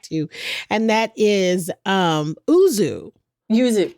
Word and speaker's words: yuzu: Yuzu, yeah. Yuzu. So yuzu. That's how you say it.